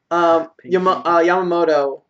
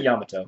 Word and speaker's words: Yamato: Yamamoto. I pronounced that wrong. Yamato.